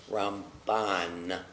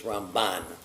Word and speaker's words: Ramban: And to make a distinction as we say it, because M and N can sound similar, we say about Maimonides, Rambam, emphasis, accent on the first syllable, Rambam. But Nachmanides is Ramban. So that helps us to distinguish the two.